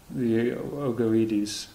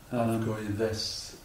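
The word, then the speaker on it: Augoeides: Avgoides, isn't it? Am I not pronouncing it? Yes, he says it correctly. Avoid it. Avgoides. Avgoides. Well, this is it? Yes. This. Avgoides. It means egg-like. Oh, egg-like. Yes. Very good. Egg, avgo, Mm. ides.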